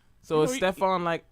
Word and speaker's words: Stephon: We got Ashley here waiting on Steven, who's late. He'll be mad at that. It's Stephon. Oh, sorry, Stephon. I didn't know how to pronounce it.